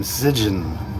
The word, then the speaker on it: Sijjin: I I don't think the S is silent. I was thinking Jen, but I was looked up some kind of I was trying to find a pronunciation of it and it brought some horror movie up and when they were talking about it, they kept on saying Sigen.